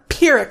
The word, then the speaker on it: pyrrhic: that's how it's pronounced i think it's pronounced pyrex besides the point it's a pyrrhic victory says google so i'm not sure